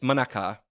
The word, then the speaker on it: Manaka: and by the way I think it's monaka it is well you're right it's well it's it's Manaka it's not quite Mana it's Manaka but yes i' I've